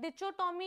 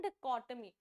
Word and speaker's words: dichotomy: डिचोटोमी ये सब नहीं बोलते हैं इसको, इसकी करेक्ट प्रोनाउंसिएशन है डिकोटमी.